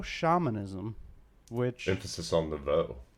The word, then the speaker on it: nouveau: He calls his acting technique nouveau shamanism, which... Emphasis on nouveau.